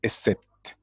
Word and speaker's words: Isis: was here o seer and Isis is a set and set and neftis